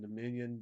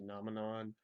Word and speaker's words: Nominon: I've always called them Dominion, but I think it's actually pronounced like Nominon.